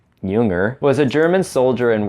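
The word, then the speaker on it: Jünger: Ernst Junger, pronounced like Carl Jung, except Junger, was a German soldier in World War I, but not like you might expect him to be.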